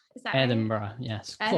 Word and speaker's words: Edinburgh: how do you say edinburgh is that edinburgh yes the last part is pretty hard for americans to get bora bora yeah that's a sound we don't make a lot here over in